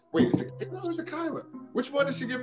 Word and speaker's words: Kaila: she's from prince george's county maryland that is kyla charles wnba player now playing in israel right